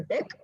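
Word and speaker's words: deque: Okay, and this is generally pronounced as a DEC and it allows insert as well as delete at both the ends.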